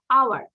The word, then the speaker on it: hour: অনেকে বলে hour, না, hour। এইটার উচ্চারণ হবে না, hour।